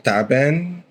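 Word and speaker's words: تعبان: Uh ta'ban also break it down. It's the t you have ain and then ban.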